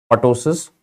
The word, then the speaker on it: ptosis: It is not called ptosis. This is ptosis. The P is silent.